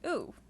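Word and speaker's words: う: It's pronounced oo, which I will write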